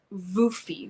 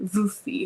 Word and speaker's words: Wolfie: Wolfie pronounced Voofy. Voofy, okay.